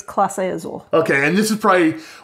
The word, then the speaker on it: Clase Azul: I keep calling it Zool, like Ghostbusters. It's Clase Azul.